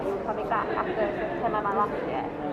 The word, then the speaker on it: Omaga: Because I sort of go Omaga. Well, the intention was so that it's basically like a different kind of a shortcut for like oh my god.